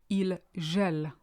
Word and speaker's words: il gèle: It looks very similar to the previous one, but be careful how you say it. Il gèle.